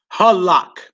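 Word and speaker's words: הלך: The word for walked or went, and it's halak.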